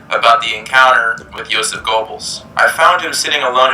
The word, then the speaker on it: Goebbels: the encounter with Joseph Goebbels. I found him sitting alone at a folding It's not pronounced like an O, it's like an O-E.